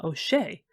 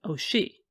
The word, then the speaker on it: O'Shea: Her husband William disliked the pronunciation of "O'Shay" and personally said "O'She" and further, in her